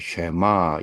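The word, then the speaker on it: שמע: 원래는 들으라 이스라엘 쉐마 이스라엘이라고 어 우리 발음을 한다고 하는데요.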